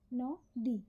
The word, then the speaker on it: নদী: করি কি করি না যদি উচ্চারণ করতাম তাহলে আমরা উচ্চারণ করতাম ন দি ন দি পাশাপাশি দুটো অক্ষর কিন্তু আমরা উচ্চারণ করি ন দি মানে এই ন এর সঙ্গে যে অ টা আছে ওটাকে আমরা ওকার রূপে উচ্চারণ করি এটা আমাদের বাংলা ভাষার একটা বিশিষ্ট ধরণ একই রকম ভাবে যেমন